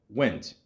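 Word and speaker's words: Wendt: uh George uh well went how do you say it w the the D and the T throw me off together George went went is that it yeah apparently uh his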